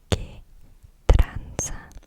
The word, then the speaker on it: ¿qué tranza?: Okay, so our first phrase is going to be ¿qué tranza?